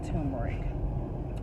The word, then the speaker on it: turmeric: I pronounce it the way it's spelled, turmeric, but I know a lot of people say turmeric.